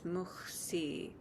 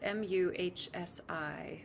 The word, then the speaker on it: Muhsi: Rather, the beautiful name of God for it is Muhsi. It's spelled M-U-H-S-I with English letters, Muhsi.